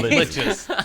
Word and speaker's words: liches: You But- know, but when I started there, we called them liches, and then we called them likes, and then we found out they're liches.